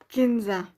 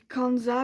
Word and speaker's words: Kenza: Ensuite, le bleu, j'ai marqué Kenza. Normalement on dit Kanza, mais moi je prononce avec le E.